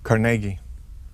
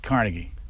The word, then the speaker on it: Carnegie: do you pronounce it Carnegie emphasis on the middle syllable not Carnegie no no and if